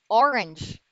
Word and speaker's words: orange: block not black black number three orange not orange not orange but orange orange there's another schwa there orange orange number four